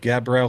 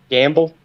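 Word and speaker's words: Gambel: all that other stuff cuz man, how you pronounce that? Gabrielle Quail, right? Gamble.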